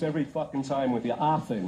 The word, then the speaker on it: Offen: Offen, right? Not Offen. Offen. Offen. Not Offen.